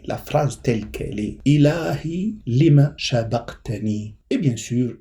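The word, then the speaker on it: إلهي: Ilahi, je le prononce bien.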